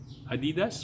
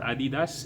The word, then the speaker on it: adidas: this one is um adidas or adidas it depends on how particular you are about the pronunciation i got this jacket